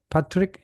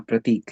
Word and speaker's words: Pratik: So, prop brings out here is Patrick. You had a hand up. No. Okay. Pratik. Is that correct pronunciation? Yeah. Pratik.